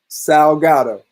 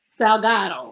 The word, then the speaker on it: Salgado: Salgado. Salgado.